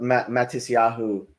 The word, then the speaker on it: Matisyahu: I jokingly wrote Matisyahu Pageau, because I didn't know how to spell. I went full Ashkenazi pronunciation of the Hebrew.